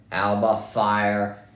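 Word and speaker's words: Alba Fyre: Alba Fire, Isla Dawn, that's how you say her name.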